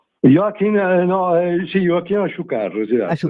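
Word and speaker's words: Achúcarro: Se vuoi ricordare anche dei tuoi maestri, il pianista spagnolo Joakin, non lo facciate pronunciare, Joakin Aciucarro. Joakin, no? Sì, Joakin Asciucarro.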